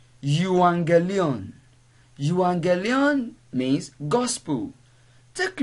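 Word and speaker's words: εὐαγγέλιον: the greek alphabet whereby when we have gamma nasa that is gamma gamma gamma coming together without any other letter intruding we have to pronounce the first gamma as um so the word you anger leon is not pronounced you again that is the word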